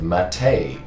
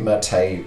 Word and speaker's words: MATE: particularly we're going to be looking at the MATE version.